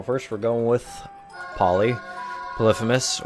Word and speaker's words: Polyphemus: we're going with poly polypous or polyphemus if you want to read it phonetically uh Sacred Heart so